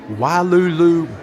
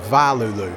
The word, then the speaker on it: Wailulu: All right, so this right here is the Wailulu Bar and Grill, or you can also pronounce it Vailulu. Either way, the cast member said it was okay.